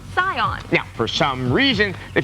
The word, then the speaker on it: Saiyan: to the scion matter when you romanize japanese something spelled s-a-i-y-a-n is pronounced scion now for some reason